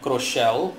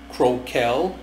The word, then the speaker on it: Crocell: it's a spirit that goes by a name cochelle I prefer pronouncing it that way it's spelled c r o c e l you can also pronounce it uh croel or croel it's all up to you in